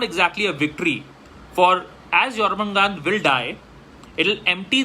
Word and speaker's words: Jormungandr: Jormungandr, a lot of people say Jormungandr, but the J is pronounced Y, like many of the East European languages and all.